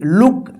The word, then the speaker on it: look: ठीक है, अब यहां पे देखिए LOOK, लुक। TOOK, टुक। BOOK, बुक। GOOD, good. यानी यहां पे जो है ना छोटा ओ का उच्चारण हो रहा है।